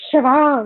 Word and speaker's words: Siobhan: So then I sent him a link of a video, and some guy was pronouncing it in an Irish dialect, and I was like, Siobhan. It's Siobhan.